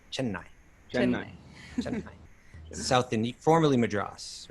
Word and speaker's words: Chennai: But okay, so since 3 years old, she has received years of rigorous training in Chennai, and I see you pronounce it really correctly, right? Chennai.